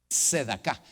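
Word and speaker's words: צדקה: Hebreo fonético, en otras palabras, la manera como se pronuncia. Sedaka. Eso creo que puede funcionar. Sedaka. Esa es la palabra. Sedaka.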